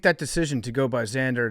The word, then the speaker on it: Xander: the main characters Xander it's actually Xander is how he pronounces it but that's like